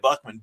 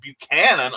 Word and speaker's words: Buchanan: Buchanan, excuse me, why did I get Buckman? Buchanan, I mispronounce everyone's name eventually, so welcome to the club here.